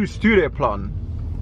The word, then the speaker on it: Stureplan: So, we are on our way to Stureplan. Do I pronounce it right?